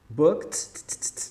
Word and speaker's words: booked: booked né do k a gente vai pular essa letra e essa letra e não vai ter som de novo de book esse t esse D vai sair com som de T booked booked booked Ok